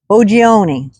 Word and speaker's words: Boggioni: uh in Raw Story in the headline Tom U ooni that's how I'm pronounced it b o gg i o n